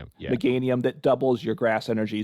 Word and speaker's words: Meganium: Um, we you you're playing, I assume, in the deck you played too, the megaium, that's I'm sure that's not pronounced right. Meanium. Meganium.